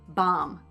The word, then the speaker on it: bomb: Comb, tomb, bomb. O, oo, ah.